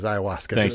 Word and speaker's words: ayahuasca: doesn't it doesn't break any of the rules ayahuasca is a uh by the way that's that's how you pronounce it ayahuasca but it's not on the list that is